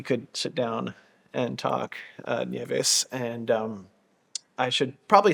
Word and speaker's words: Nieves: migrants, and my name means snow, and it's pronounced Nieves, as you correctly say it. However, in Australia, it's been anglicised, and I get called all sorts of things, Tony, but mostly Nieves. However, my name is Nieves.